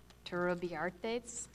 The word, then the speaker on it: Turrubiartes: Our next speaker is Gino Turrubiartes from Guadalupe.